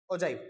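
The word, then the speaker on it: ogive: बोलता हूँ भाई, आप ओगिव बोल लो या फिर जो मर्जी आपके मन करे वो बोल लो, मैं ओजाइव बोलता हूँ, जो मेरी प्रोनाउंसिएशन है वो ठीक है।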